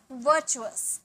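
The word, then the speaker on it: virtual: है अचंभित पुण्य वर्चुअल आर का साउंड यहां भी नहीं आएगा वर्चुअल वर्चुअल इसे चू बोलेंगे ठीक है वर्चुअल मतलब पुण्य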